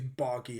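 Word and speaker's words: Bragi: which is called uh braggy buggy yeah i think it's barky it's how you pronounce it which is a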